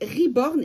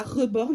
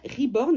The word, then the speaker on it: reborn: Donc, reborn et pas reborn, même si ça s'écrit avec un E. Ça se dit bien reborn et ça vient de l'anglais, ça veut dire renaître.